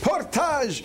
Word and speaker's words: Portage: Here in Canada, they love the French pronunciation.